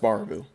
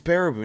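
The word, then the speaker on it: Baraboo: uh barabo and West barbou oh oh no barou I I know this place it's barou not why did I say barbu I I literally like know that town how did I mispronounce that yes I I do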